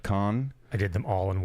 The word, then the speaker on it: Cannes: Grand Depart, which is the first three, like Lille, and it's not Cannes, but Cannes.